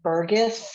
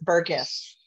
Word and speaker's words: Burgess: you all know that her last name is pronounced Burgess with a hard G she corrects people all